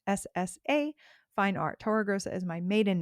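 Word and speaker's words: Torregrossa: If you have a question you can shoot me a DM uh either at Tora Grosa Fine Art. That's my personal main business Instagram account. Uh, Tora Grosa, just so you know, is spelled T O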